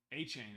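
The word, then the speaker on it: Achane: going against he has a chain is how you pronounce it right achain achain St Brown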